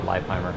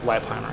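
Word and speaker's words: Leipheimer: They know how to pronounce my name. It's actually Liebheimer. Liebheimer. Yeah.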